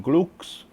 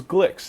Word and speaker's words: Gluek: a wood case from gles well they don't know how to pronounce it it is Glicks it's the beer that